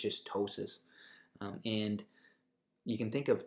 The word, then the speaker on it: ptosis: color next one is ptosis which just means lowered position of an organ you see there's a P in this in this term but we actually don't pronounce it it's just ptosis and you can think